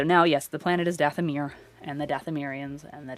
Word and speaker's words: Dathomir: going to name them dathamer and i'm using the old pronunciation i know it's dathomir now oh it happens die